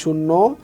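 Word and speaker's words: ش: এখানে আমি লিখেছি বাংলায় বয় শূন্য র, ঠিক এই রয়ের মতো উচ্চারণ হবে।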